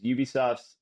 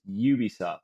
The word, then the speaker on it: Ubisoft: they they said okay now it's Ubisoft not Ubisoft Ubisoft and it was very and they gave us all classes and and taught us to pronounce it Ubisoft so even though